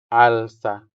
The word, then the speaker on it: alsa: Alsa. Alsa. The stress is on the first syllable, making the first a sound longer than the second one. So, we say alsa.